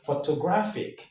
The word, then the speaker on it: photographic: When you have the stress, when you have a word ending in MIC, TIC, SIC, the rule states that the syllable before the last one is what is stressed, right?